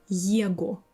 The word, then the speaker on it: его: will have ого or его at the end. And like this, all these endings you will pronounce with v sound.